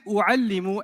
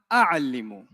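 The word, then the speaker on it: أعلّم: Why is it u'allimu and not a'allimu?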